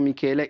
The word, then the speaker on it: Michele: Oui, Michel, moi je m'appelle Michele. Ouais. Michele, ça se prononce vraiment Michele.